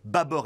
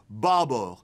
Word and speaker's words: bâbord: observons tout d'abord que le circonflexe sur l'a2 bâbord est aberrant on prononce en effet bâbord et non pas bas à bord le terme vient du